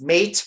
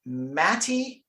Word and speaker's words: Mate: when you read it in English it reads mate remac like we're used to pronouncing remac but apparently the formerly Yugoslavian born